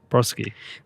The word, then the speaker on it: Brodsky: You actually pronounced it like perfectly. Brodsky.